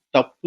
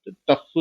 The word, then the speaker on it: தப்பு: வாத்திய கருவிக்கு அவங்க மொழியிலும் தப்பு என்றுதான் பெயர் அதா இன்னைக்கு பகரம் பகரமாக மாற்றப்பட்டு டப்பு அப்படின்றாங்க ஆனா அதோட பண்டைய உச்சரிப்பு தப்புதான். எப்படி ஒரு திராவிடர்ல ஒரு தமிழர்ல